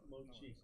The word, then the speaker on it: Mochi: Mochi? Chi. Chi. With a CH, just like it's spelled Mochi.